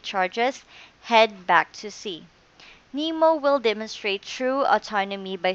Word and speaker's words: N3MO: DAV and the California Maritime University are developing an autonomous boat called N3MO, or rather pronounced NEMO.